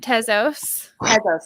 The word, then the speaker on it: Tezos: tasos in general and am i pronouncing it right because it came out i've heard of both pezos and tezos it is actually tezo sorry maybe yeah most